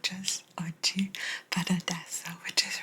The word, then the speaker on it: oggi: Because that could look like the word oggi, O-G-G-I, but it's oggi, oggi, and oggi is today. My battery is dying adesso, not just oggi, but adesso, which is right now.